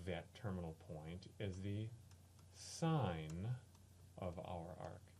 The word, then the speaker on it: sin: similarly y equals sine it's pronounced sine it looks like sin of T and those